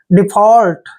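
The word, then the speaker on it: default: यू एल टी देखिए डी का उच्चारण ड करते हैं ई को ई की मात्रा पढ़ते हैं एफ का उच्चारण फ करते हैं ए यू को हम यहां पर ऑ पढ़ेंगे ऐसे ऑ और एल का उच्चारण ल करेंगे और टी को ट पढ़ेंगे डिफॉल्ट ऐसे इसका उच्चारण करना है डिफॉल्ट डिफॉल्ट मींस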